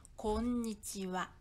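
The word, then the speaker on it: こんにちは: 특수 미미 에요 그래서 음 발음 있을 때는 꼭 한 박자 들어가야 합니다 따라해보세요 건 위치와 건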